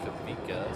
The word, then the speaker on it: Kawika: me pronounce it Eva, in Hawaiian, most of the time the W has a V sound. Like the name Kavika. It's spelled Kawika, but it's pronounced Kavika.